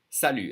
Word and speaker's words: salut: say goodbye in French salute and we don't say the T the French will always